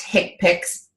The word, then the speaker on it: HCPCS: so keep that in mind k picks it's pronounced k picks but a stands for healthcare common procedure coding